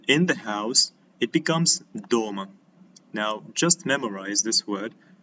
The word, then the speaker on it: дом: A house as a word in Russian, it is dom. We pronounce it as dom, as an individual word, without adding such things like in.